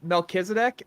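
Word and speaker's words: Melchizedek: to note it's a theory there's no uh melkisedek uh yeah I can spell that that's m l c h i z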